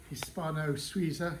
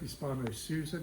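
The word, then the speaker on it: Hispano-Suiza: here we have a Hispano sza Hispano soua depending how you pronounce it aluminium spokes wooden Rim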